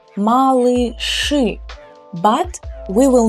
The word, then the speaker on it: малыши: We write и here and here, but these two consonants are always hard. They just were born hard and it's their nature. So we will still pronounce them hard, as if you were saying Ж with an У and Ш. Ш. So миражи, малыши.